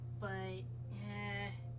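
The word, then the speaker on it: Bea: Sha, but it might be she like sheep. kind of like how uh B from uh from Night in the Woods is pronounced B. Um though it's spelled B E A.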